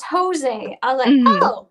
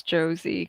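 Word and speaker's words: José: mom's like Oh no the name is Jose I definitely pronounced it as Josie because I didn't understand uh it was different in Spanish yeah no like it's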